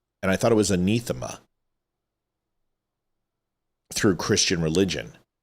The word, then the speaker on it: anathema: And I thought it was anathema through Christian religion. So anathema and anathema, because it's from the Greek. So the A is supposed to have an E sound. I think she's saying it wrong.